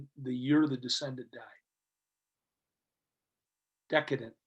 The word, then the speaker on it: decedent: Decedent. How do you say that? Decedent. Decedent.